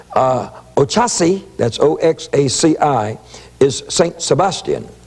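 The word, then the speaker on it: Oxaci: And he says, Ochasi, that's O-X-A-C-I, is St.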